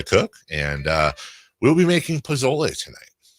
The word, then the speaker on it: pozole: and we'll be making pozole tonight. Don't say it like that. Is it pozole? No. Pozole. How am I supposed to... Don't put so much emphasis on the Z.